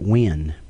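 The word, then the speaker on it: Nguyen: of Asian descent and I think they pronounce that win actually when mm-hmm okay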